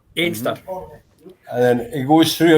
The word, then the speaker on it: Anstruther: He stopped for breakfast in the prom, and then he went to the famous chippy at Anstruther, as we cry Anstruther. Einster.